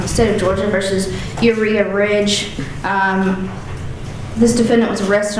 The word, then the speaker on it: Uriha: Judge, just briefly, so you guys pronounce the first name Uriha.